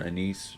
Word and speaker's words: anise: Like anise mm-hmm. or anise, depending on how you want to pronounce it.